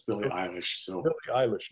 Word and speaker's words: Billie Eilish: first heard her name, I thought my kids were mispronouncing Billy Idol. And I thought, you know, with the rebel yell and everything, I thought, come on, kids, it's Billy Idol. No, Dad, it's Billie Eilish.